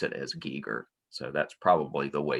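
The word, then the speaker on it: Geiger: gigar from that line they seem to all pronounce it as Giger so that's probably the way you should say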